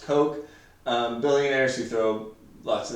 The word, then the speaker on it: Koch: If you've ever heard of the Koch brothers, it's spelled K-O-C-H, but it's pronounced Coke.